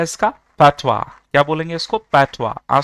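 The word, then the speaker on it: fatwa: कुछ लोग इसे बोलेंगे पाथॉइज, बट the pronunciation of this word is फतवा। ठीक है, याद रखना इंपॉर्टेंट वर्ड है ये इंग्लिश के लिए। प्रोनाउंसिएशन क्या है इसका? पैथवा।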